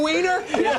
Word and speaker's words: Weiner: Weiner? Yeah. I can tell. Weiner. It's Weiner, by the way.